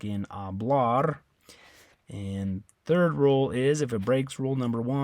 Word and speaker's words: hablar: so on that one the stress is on the last syllable which is the a